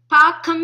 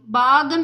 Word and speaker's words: பாகம்: பாக்கம் என்று உச்சரிக்க வேண்டும், பாகம் இல்லை.